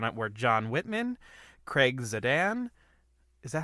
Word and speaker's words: Zadan: It was directed by Rob Marshall, and the executive producers on it were John Whitman, Craig Zadan. Is that how you pronounce his last name?